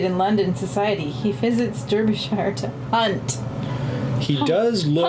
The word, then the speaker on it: Derbyshire: It's pronounced Derbyshire.